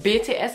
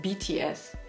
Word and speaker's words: BTS: Es heißt nicht BTS, es heißt BTS.